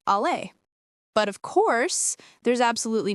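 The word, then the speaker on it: aller: Western Syriac pronounces the verb to go as āleh, and it's the same pronunciation as the French verb, āleh.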